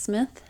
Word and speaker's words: Smythe: I think it's pronounced Smith.